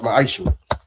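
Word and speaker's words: מעשר: Means 10th in Hebrew and it's pronounced ma'aishu.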